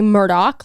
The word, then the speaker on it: Murdaugh: murder but it's actually they say Murdoch like Rupert Murdoch but it's not spelled